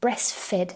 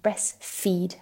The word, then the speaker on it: breastfeed: baby she says I breastfed her but here if we say fed with a short e this is the past tense here what she should have said is I breastfeed her I heard her say